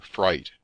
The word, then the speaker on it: Frith: great portion of the frith or fright as the name was then and is still pronounced had formerly been a